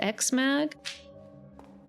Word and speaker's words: X-Mag: It's the comic anthology called X-Mag. It's spelled like EX-Mag.